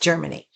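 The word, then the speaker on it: Jermani: or Germany and but it's spelled J E R M A N I, but it's pronounced Germany.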